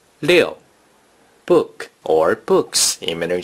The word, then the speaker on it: 六: Six in Mandarin Chinese is pronounced 六.